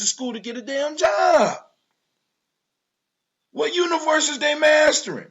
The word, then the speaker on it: Job: was a book called Job. Of course, they pronounce it Job, but it's spelled the same damn way.